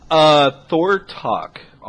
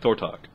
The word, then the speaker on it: Thortok: Thortok. Thor- It's like thorn without an N, and to talk to somebody but without the L. Okay. Cool. So like Thortok.